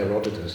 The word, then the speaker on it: Heródoto: Como ese blog de Heródotos es fabuloso, ¿no? ¿Cuál blog? No, me estoy burlando. Si uno piensa en Heródotos, no sé cómo se dice en español. Heródoto. Sí, o sea, Heródoto.